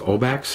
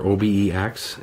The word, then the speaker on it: OBEX: from CDO it's the I believe it's pronounced obax or OBEX it's a waterproof case